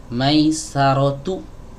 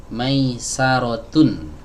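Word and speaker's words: ميسرة: Jadi kita baca Maisaratu, bukan Maisarotun.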